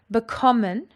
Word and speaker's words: bekommen: Bekommen has got its emphasis on the second syllable.